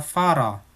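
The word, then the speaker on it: Fahrer: Tapi kalau di belakang, itu pelafalannya kayak A. Contohnya kata Farah, artinya supir.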